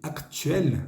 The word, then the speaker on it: actuels: Nous avons parlé du passé, de nos projets actuels. Actuel simplemente quiere decir actuales. Está en plural. Fíjense esa S al final. Actuel. No se pronuncia, ¿eh?